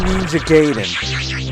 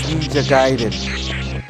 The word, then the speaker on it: Gaiden: I call it Ninja Gayen. People say it's Ninja Gaiden, but I call it Ninja Gayen cuz it's spelled Ninja Gayen. It's not spelled Ninja Giden.